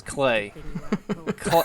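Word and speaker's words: Klei: I just thought it was settled it was Clay all right clay from here on out in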